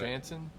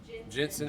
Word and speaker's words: Jensen Ackles: Well, because of the fact we're talking about Jansen. Jensen. Jensen That's why I Ackles. couldn't pronounce. I can't pronounce that name. Jensen Ackles.